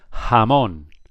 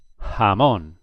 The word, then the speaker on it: jamón: J in Spain is always pronounced like the H in English.